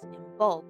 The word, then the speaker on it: Imbolc: Imbolc can also be pronounced as Imbolc, which translates to in the belly of the mother.